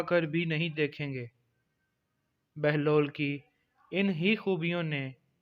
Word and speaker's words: بہلول: سے واقف ہوں گے۔ بہلول کی بے پر پیش اور ہے پر جزم ہے، جس کی وجہ سے اس کا اصل تلفظ بہلول ہے، جس کے معنی ہنس